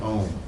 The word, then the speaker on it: Om: Om, which is usually you can sort of pronounce it in 3 ways, A-U-M, Om.